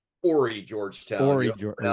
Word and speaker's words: Horry: And I learned that it's Ori Georgetown. Horry George. You don't pronounce the H.